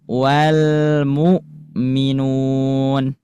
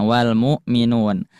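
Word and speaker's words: وَالْمُؤْمِنُونَ: Misalkan di sini ee ada lafaz wal mukminun. Nah, wal mukminun. Karena pita suaranya tertutup, maka ketika sukun si Hamzah tidak mengalirkan suara. Suara. Nah, tidak mengalirkan suara ya. Jadi suaranya tertahan.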